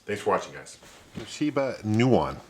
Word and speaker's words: Nuon: gameplay on this thanks for watching guys Toba Newan it's pronounced Newan and there were other companies like Samsung made